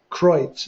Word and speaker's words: Kreutz: Well, in the description of the program today, we mentioned that the nieces and nephews of Shirley Kreutz Bennett, hey, I said it right.